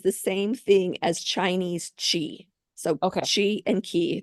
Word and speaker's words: Qi: actually key is Japanese Chi is Chinese so it's Chi but it's spelled Qi that's why I always